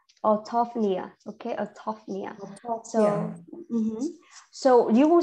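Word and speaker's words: orthopnea: to pronounce okay so the stress will be at the t-h-o-p so tough so our autopia autophia okay so so you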